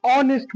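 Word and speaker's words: honest: एच का pronunciation नहीं होगा। वहां पर हम लोग एन का प्रयोग करेंगे। जैसे मोहन इज़ एन ऑनेस्ट व अ इज़ देयर।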